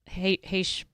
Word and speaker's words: Hesch: offering, the book by Joe Hesch. Rhymes with Mesh.